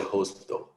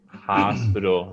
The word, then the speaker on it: hospital: He's busy at the hospital. Okay. Watched. It's a Right. T sound. Watched. Watched. And hospital. The O is like ah.